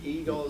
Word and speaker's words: ego: pronounce it differently well let's pronounce it eggo instead of ego but then kellogg's came along with the president but it's too confusing i think so i prefer to use the word ego simply to mean the personality